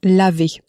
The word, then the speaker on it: l'avez: But, of course, the le and the avez le ends with an e, a vowel, and avez begins with an a, also a vowel, so there's an abbreviation l apostrophe avez. So, so, have it sounds like l'avez.